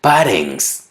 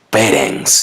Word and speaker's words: parents: La siguiente palabra, parents, que en español significa padres, la pronuncian parents. Todos sabemos que la letra A es E en inglés. Lo correcto es parents.